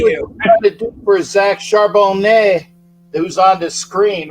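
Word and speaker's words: Charbonnet: uh um there's a you don't pronounce the t in French because well they're pretentious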